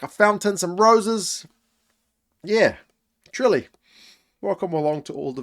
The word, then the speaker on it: Tralee: I've never heard of, including one which is pronounced Tralee, although the pronoun- pro- the spelling is more like Tralee.